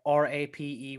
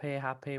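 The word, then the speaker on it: rapé: So this is called Hape. It's spelled RAPE with the little apostrophe, Rape, Hape, whatever we want to say it.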